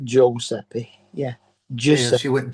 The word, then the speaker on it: Giuseppe: I said, I want to name him Giuseppe.